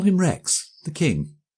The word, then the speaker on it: Rex: people in the street failed completely to pronounce the monosyllable Rex. They all said Rax, and it always distressed me. It always suggested to me seaweed and rack and ruin.